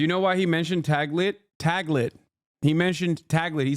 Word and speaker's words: Taglit: It's Tagli, is it? I don't know how to say it. Taglit. Sorry. I mispronounced it.